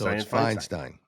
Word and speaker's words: Feinstein: Frankenstein spelled the same way as her. So it's Feinstein. Right? So I'll say Feinstein.